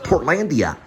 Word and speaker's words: Portlandia: Orlando's on television but I didn't pronounce it right it's actually pronounced Portlandia Portlandia yeah you know what